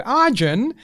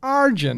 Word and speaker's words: Arjun: was in Primary School people used to go Arjun and I'm like it's Arjun but it's like arjin they tell them I've